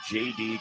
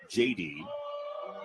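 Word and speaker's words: Jedy: Mary's for JD Cordelia. It's spelled J E D Y. JD from Tillberg in the Netherlands just north of Belgium.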